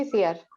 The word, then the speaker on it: Itziar: Fenómeno, pues, last but not least, Itziar, o Itziar, ¿cómo lo pronuncias? Bueno, yo lo pronuncio Itziar.